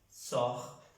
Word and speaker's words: sort: Recuerden que las S no se pronuncian ni las T en las reglas de oro. Je sors, tú sales. Il, elle, on sort. Ella sale, él sale, salimos. Sort se pronuncia igual a las tres personas.